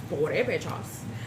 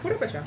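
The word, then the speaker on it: Purépecha: And ever since I found out that we were Porepechas. Don't say it like that. Purepecha.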